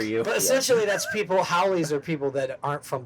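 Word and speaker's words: haole: But essentially, that's people, howlies are people that aren't from the island, right? Yeah, like foreigner. And like a slangy kind of, not nice of a way. So, howole. Yeah. That's the proper pronunciation.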